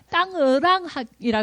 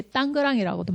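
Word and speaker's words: Tangerang: 땅으랑이라 그러기도 하고 땅그랑 그러기로 원래는 정확한 발음 땅으랑이 맞대요. 근데 이제 이제는 이렇게 땅그랑이라고도 많이 한대요.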